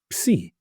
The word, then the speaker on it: psi: So the sound I need from you is when we put an English P and an S together and we try to pronounce them, we go ps, ps, as in the word upside down, upside down.